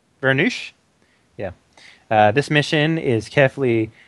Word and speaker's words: Voronezh: This is a reconnaissance and bombing of the actual German positions near Stary Oskol, southwest of Voronezh. Vernush?